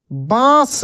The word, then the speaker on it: बांस: क्या होता है दांत बास देखिए कैसे बोलेंगे आप बास अगर चंद्र बिंदु हटा दिया जाए तो कैसे इसका उच्चारण होगा बास बास नहीं बास होता है क्या होता है बांस बास मुह देखिए मुह